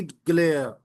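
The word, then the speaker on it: glare: इसी तरह next end है ग्रीन आई ग्लेयर। यह जो वर्ड है ग्लेयर इसके आगे आर इ है तो आर को आपने साइलेंट पढ़ना है। ग्रीन आई ग्लेयर आर्क आवाज नहीं आनी।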